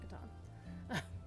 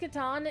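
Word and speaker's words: Catan: It's pronounced katan. And the reason it's pronounced katan is because umlouse tuber, the gentleman who uh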